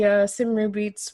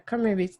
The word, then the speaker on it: Cymru: Well, basically, Don and I met in a really interesting way over at the Cymru Beats. Well, Cymru Beats. How do you say it? Cymru Beats. Yeah, Cymru Beats. The Welsh pronunciation.